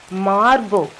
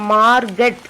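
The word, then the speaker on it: Margot: இந்த main character of the story is மார்கோ. இங்கே வந்து உங்களுக்கு மார்கட் அப்படின்னு இருக்கும், ஆனால் இந்த ப்ரனன்சியேஷன் வந்து மார்கோ தான் சொல்லணும். டி வந்து சைலண்ட், அதை உச்சரிக்கக்கூடாது, அந்த டீயை உச்சரிக்கக்கூடாது.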